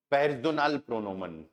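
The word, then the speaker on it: Personalpronomen: क्या यूज करना है, जिसको हम जर्मन में बोलेंगे, या पेर्सोनाल, स्पेलिंग सेम है ना, पेर्सोनाल, लेकिन ये आगे वाली चेंज होगी, प्रोनोमन। क्या बोलेंगे, पेर्सोनाल प्रोनोमन।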